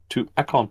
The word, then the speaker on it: Tuberville: Tuberville. I thought it was Tuberville. It was Whatever. TT. I'm just messing with you. But that is how you pronounce it.